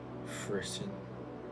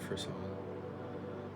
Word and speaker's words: frisson: You know when you're listening to music and you get that feeling of frisson, or however you pronounce it, frisson. I always say frisson because that's what it reminds me of.